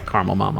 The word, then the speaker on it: Caramel Mama: Because you were sick of hearing people pronounce it caramel. Which I just did up in question 1. For whatever reason, I was like, let me say this that way. Just- Okay. It's caramel mama.